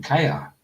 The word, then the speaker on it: Keir: How do you pronounce our Prime Minister's name? Kia.